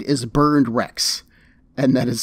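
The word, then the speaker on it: Berndrecht: himself his name is burned rex and that is spelled b-e-r-n-d r-e-c-h-t and no i have no clue what that is supposed to mean like this literally just sounds like burned wrecks as in those exploded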